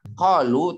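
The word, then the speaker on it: قَالُوا: Pakai kop apa pakai kap? Kop. Kalau kop berarti asli Arab. Kalau kaf, meskipun dibacanya ko, itu bahasa Indonesia. Qalu, tapi makhorijul hurufnya kaf itu. Jadi ada qalu, ada qalu, beda. Kalau qalu pakai kaf dan bahasa Arab, itu artinya mereka berkata.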